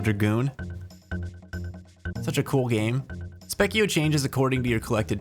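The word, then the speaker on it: Spekkio: Specio changes according to your collected TP. I'm pretty sure first form is kind of a secret. Oh, really? Interesting. I didn't know that. from a wiki. Specio is a phonetic spelling of the Italian word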